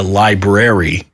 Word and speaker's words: library: to not know that it's actually a library yeah you go to the library yeah like what are you